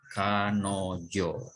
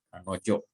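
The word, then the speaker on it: 彼女: Dibacanya kanojo, gitu ya. Ini dibacanya kanojo, dia, ya. Jadi kanojo ni hanasu. Kanojo ni hanasu di sini artinya, ya, saya akan berbicara dengan dia.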